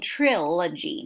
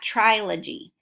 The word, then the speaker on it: trilogy: on its head trilogy now notice I'm saying trilogy not trial a G that's how it's pronounced but you still see